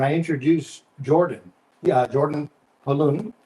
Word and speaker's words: Pauluhn: Yeah, Jordan Paluhn. Pauluhn. So it's like the boy's name Paul, and it rhymes with typhoon.